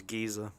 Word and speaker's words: geyser: In the UK pronounced geyser is gizer.